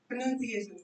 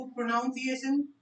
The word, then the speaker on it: pronunciation: Hence प्रोनंसिएशन। बहुत ही ध्यान से सुनना। वो प्रोनाउंसिएशन प्रोनाउंसिएशन ऐसा कुछ नहीं होता। Hence प्रोनंसिएशन।